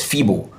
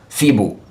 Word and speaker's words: feeble: You can see the color coding, the stress, feeble, feeble for adjective, feeble, feeble, that's the two syllables.